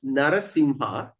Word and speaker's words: Narasimha: like okay example like narasimha the M there's a DOT on top so we can pronounce prounce narasingha and also we can pronounce narasingha okay so don't worry